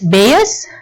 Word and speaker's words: Bayes: as base law or base rule describe the probability of an event based on condition that might be related to the event okay some pronounces as bears some pronouns as base right another term in base